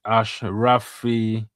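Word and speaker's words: Achraf: It is pronounced as Ashrafe or Ashrafe.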